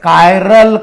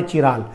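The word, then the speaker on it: chiral: या फिर the optical active compound it is also called a कायरल compound. कौन सा word? Not ए चिराल. इट is called a कायरल. ख्याल में रखने का द प्रोनाउंसिएशन कायरल या फिर कायरल.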